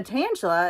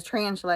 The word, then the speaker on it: Tantalus: I was at and I said the Tangela that's how you say it I thought it was tarantula for whatever reason I read a tarantula and he said no